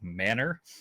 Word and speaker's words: Manor: this small town called Manor Texas spelled like ma n o R I didn't find out until I was like six playing it like a Hamtaro game that that spelling is actually pronounced manner because I just lived